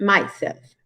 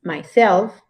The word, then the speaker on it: myself: we have first a reflexive pronouns are usually accented on the second syllable myself it's not myself it's myself yourself himself herself ourselves